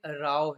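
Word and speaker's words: row: बट यहाँ पे राव है, राव आप प्रोनाउंसिएशन भी डिफरेंटली करते हैं, बिकॉज इसका मतलब क्या है, झगड़ा या आर्ग्यूमेंट, क्वारल और एन आर्ग्यूमेंट।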